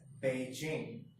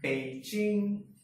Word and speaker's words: Beijing: we pronounce it as Beijing. But if you consider Chinese in Mandarin, B is pronounced as Pa and J is pronounced as Ch. So it becomes Beijing.